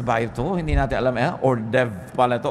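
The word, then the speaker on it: hors d'oeuvre: ba hindi niyo alam kung ano ba to orde verse ba ito Hindi natin alam ordev pala ito o kung ano man Ba't h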